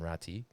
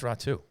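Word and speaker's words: Räty: I believe that is now the proper pronunciation, even though there's a Y at the end there. I think it's Ratu rather than Rati. I still thought it was Ratty, but I think it's Ratu.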